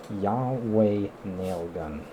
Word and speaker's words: YHWH Nail Gun: This, and the one I forgot about, I put it in the description, was Yahweh Nail Gun. Yahweh Nail Gun, it's spelled YHWH Nail Gun.